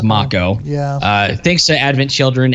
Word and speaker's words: Mako: And I guess the correct pronunciation is Mako.